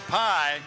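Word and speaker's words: Pai: And let me tell you, the Pie is not a very common name, but and it's not spelled like pie either. It's not P-I-E. That's right. It's P-A-I.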